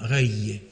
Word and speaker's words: rei: ça signifie qu'en fait, et la prononciation réelle, c'est vraiment rei, qui donnera rei en occitan et roi beaucoup plus tard, rei en ancien français.